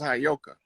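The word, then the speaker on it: Heyoka: was telling you that that word is properly pronounced as hyoka and the hyoka is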